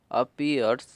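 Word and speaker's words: appears: अपीयर्स, इसमें आप देखोगे अपीयर्स में ए डबल पी आ रहा है, तो इसे हम एक ही पी पढ़ रहे हैं, डबल पी नहीं पढ़ रहे, एक पी हमारा साइलेंट है। और इसमें एक और है कि ई ए आर है, इसे हम ईयर, ई ईयर, तो ईयर हम पढ़ रहे हैं, इसीलिए अपीयर में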